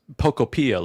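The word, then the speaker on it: Pokopia: So, my daughter says it's it's Pocopia, like Utopia. Pocopia. Pocopia. Pocopia. Utopia.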